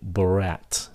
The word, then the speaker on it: brat: Cái chữ brat, khi mà các bạn nói chậm, thì các bạn phát âm T nó. Brat. Khi các bạn nói nhanh thì các bạn chỉ cần ngắt hơi thôi, brat, nhờ thôi, brat.